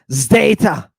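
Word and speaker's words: ζ: wait what yeah yeah now I'm gonna let you say Zeta and we're g to pronounce it with a zed right but you got to realize this is a combination of two letters right D and S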